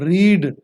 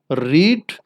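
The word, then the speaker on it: read: मैं आपको पढ़ के इसकी 3 हालतें सुना देता हूं, रीड, रेड, रेड, यानी कि इसकी सेकंड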